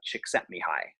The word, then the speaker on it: Csikszentmihalyi: to spell it but his last name is pronounced Csikszentmihalyi famous book called flow at the FL o